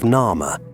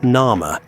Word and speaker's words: Narmer: Most scholars agree this represents the name Narmer phonetically, with the catfish reading as Nar and the chisel as Mer.